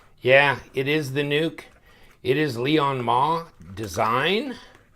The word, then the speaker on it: NUK: I was going to go knock, knock, knock, but it's not nuck, it's nuke. Yeah, it is the nuke.